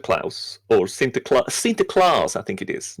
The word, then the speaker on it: Sinterklaas: Nicholas yeah with cinta Klaus or Sinterklaas see the claws I think it is not Klaus sinter Klass he of course has his sidekick